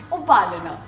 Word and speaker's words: Upalina: U-pa-li-na. Upalana. Simple. That is how you pronounce her name.